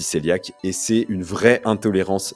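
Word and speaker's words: cœliaque: Donc 1 2 % de la population, c'est c'est les personnes qui souffrent de la maladie céliaque qui s'écrit cohéiaque d'ailleurs, mais ça se dit céliaque et c'est une vraie intolérance sévère qui est autoimmune au gluten.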